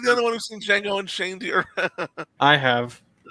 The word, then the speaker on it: Django: The D is silent. yeah. Oh, am I the only one who's seen Django and Shane Deer?